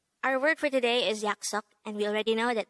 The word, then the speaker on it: 약속: Now, how do we spell yaksok in Hangul? Let's start with the first of the two syllables.